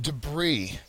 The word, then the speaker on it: debris: the word is pronounced debris it's almost as though the S is silent okay uh so debris has the second syllable